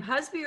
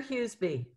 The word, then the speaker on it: Husby: you say your name husby or hughesby they both work but usually i go by husband yes i thought so